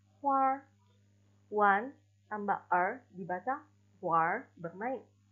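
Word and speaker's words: 花儿: Ditambah kita tidak boleh membaca dengan hua melainkan huar.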